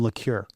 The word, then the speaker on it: Lecuyer: Today's guest in the studio is Lure. You said it right. I said it right. And most people get that wrong. That's French, obviously.